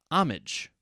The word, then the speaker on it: homage: Another word that starts with H, that is often silent, but not always, is homage.